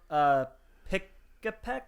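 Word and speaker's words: Pikipek: Pikapek, I want to say is how you pronounce that.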